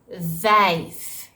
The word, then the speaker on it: vijf: So for the V, it's vijf. Vijf means five, vijf. But then, if they don't pronounce the V strongly enough, they might end up saying wijf.